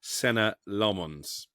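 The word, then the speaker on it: Senne Lammens: Well, I think I've pronounced it about 16 different ways over the course of the summer, but we're told it's Senna Lomons.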